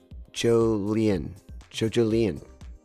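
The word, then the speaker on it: Jolyne: Part 8 of JoJo's Bizarre Adventures is Joline. I believe it's pronounced Jolien.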